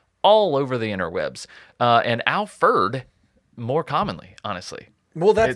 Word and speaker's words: Alferd: And I'm not saying it wrong. It's some people say Alfred, right? Alfred was obviously his name, but he kind of embraced Alferd for whatever reason in his later years.